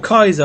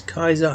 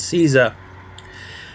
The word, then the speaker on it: Caesar: went to caesar or kaiser i should pronounce him properly i actually did some research on him and this is the actual pronunciation is kaiser not caesar anyway if you didn't